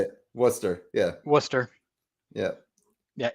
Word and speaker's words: Worcester: Worcester. Yeah. Worcester. Yeah. Yeah. If you say Warchester or Worker, you're just going to get laughed at in mass. It's Worcester.